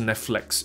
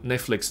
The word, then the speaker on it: Netflix: flex。OK，所以 flex your muscle。OK，flex your muscle，那不是 Netflix，是 Netflix。事实上，flex 这个字就是 flick，F L I C K，同一个字的发音，同一个发音啊，不同一个字啊。Netflix flick，所以加个 s，发音就变成了 F I L